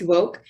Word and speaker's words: WOCC: in cannabis that is w-o-c-c pronounced woke we are a federally